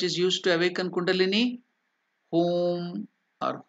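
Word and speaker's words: Hoom: used to awaken Kini home or home so h o o m is the correct pronunciation or h u elongated U is elongated that is a pronunciation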